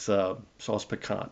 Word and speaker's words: sauce piquant: So you would call it either Sauce Picant or Sauce Piquant. But I've never heard it pronounced that way. It's Sauce Picant is all I've ever heard.